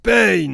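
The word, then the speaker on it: Pain: les pages de l'akatsuki ben ça se prononce payne c'est pas la peine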